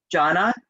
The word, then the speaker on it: Joanna: Her sister's, it's spelled Joanna, but they pronounced it Jonna, and it's where my Aunt Joni got her name, which is where I got my middle name.